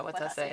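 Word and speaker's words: Watase: t a s e you always pronounce the E yeah what say what say yeah anyway she's my favorite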